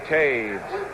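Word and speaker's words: Toews: Lauren Taves made the tackle, number 51. That's spelled T-O-E-W-S. Spelled that way.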